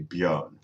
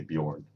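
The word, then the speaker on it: Björn: that the Swedish variant so my name is actually be on but talking to someone that's not Scandinavian I just say Bjorn as if I was in the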